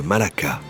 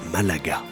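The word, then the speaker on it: Málaga: Europe et ceci est le port espagnol de Malaka mais les gens de la région prononce Malaga mais c'est vraiment impressionnant il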